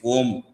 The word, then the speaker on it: Om: a u m we say a u m is Om.